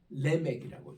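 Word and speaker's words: לֶמֶךְ: 이이에요 이름은 꼭 같습니다 히브리 말로는 레맥이라고는데에 스골 스골 이게에 모음이 두 개 겹친 것은 앞에 음의 액센트를 두라 그래서 레맥이라고 읽어요 그래서 영어로서는 LE CH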